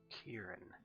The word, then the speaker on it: Kieran: Kieran. Kieran, not Kiri. I mean, Hmm? the way it's spelled, it could be pronounced either way.